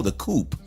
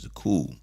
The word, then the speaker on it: Coup: group called the cool it's spelled a cou P so people said oh the coop you know it's not the coop it's French the cool but uh he was